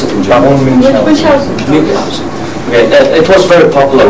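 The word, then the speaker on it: Münchhausen: How do you pronounce it in German? Munchausen.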